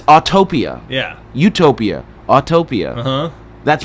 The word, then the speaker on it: Autopia: when they refer to Autotopia. Oh, yeah. It's Autopia. Yeah, they've added a syllable that doesn't exist.